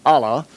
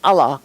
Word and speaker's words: Allah: and often times they with the accent on the second syllable Allah as opposed to Allah but it's the same